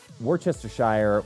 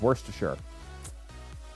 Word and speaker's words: Worcestershire: Yeah, well, I mean, I grew up in a family where Worcestershire was, and still is to this day, just pronounced as Worcestershire. Even though I know it's Worcestershire. And depending on where you're from, it's Worcestershire or Worcestershire, depending on where you're from in the UK side.